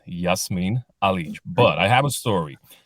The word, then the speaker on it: Jasmin Alic: with that the rear the real way to pronounce my name is Yasmin Ali but I have a